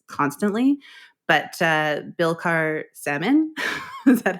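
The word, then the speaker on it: Billecart-Salmon: So I do have a brand that I want to mention, and I butcher pronunciations constantly, but Bilcar Salmon, is that how you say it, John? Bilcar Salmon, yeah, that's you're good enough.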